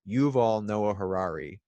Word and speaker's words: Yuval Noah Harari: And that's something that the author, I always get this name wrong, but I believe it's Yuval Noah Harari, who wrote the book Sapiens, Homo Deus, 21 Lessons for the 21st Century.